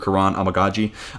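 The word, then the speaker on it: Kiran Amegadjie: I'm going off the athletic pronunciation from Dane Brugler, Karan Amagaji. So let me know how you're saying it down below in the comment section.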